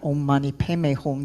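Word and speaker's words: Om Mani Padme Hum: padme refers to lotus i'm going to use the sanskrit pronunciation not the tibetan but if you prefer that omani peme hong you can use that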